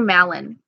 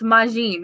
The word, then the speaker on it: Majin: See, I would have called you Malin. When I spell it, I'd be like, hey, Malin, and it's Majin.